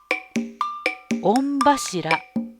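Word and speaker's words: 御柱: 御柱と読みます。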